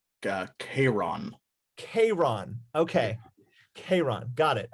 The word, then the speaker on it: Charon: Hero, I would like you to do, I think it's Sharon or Sharon. Pretty sure. Charon. It's pronounced Chiron.